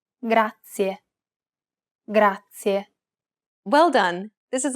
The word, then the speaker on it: grazie: This word uses the rolled R sound. Grazie. To pronounce this sound, place the tip of your tongue on the gum ridge behind your upper teeth, just like you do when you want to say the English D sound.